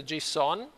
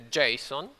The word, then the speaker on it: JSON: tutto come Codificare le informazioni noi usiamo questo g-son anzi in realtà la pronuncia corretta è Jason con l'accento sulla prima Vabbè che sta per